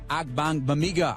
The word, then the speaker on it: Ogbongbemiga: Bears guard Tom Thayer, Jeff Joniak, and Amen Ogbongbemiga, our special guest this week on Bears Weekly.